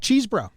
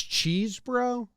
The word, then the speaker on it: Chesbro: I don't think it's Cheese-bro. I think it's Chess-bro. I think it's Chess-bro, but that's only because I just hope it's not pronounced Cheese-bro.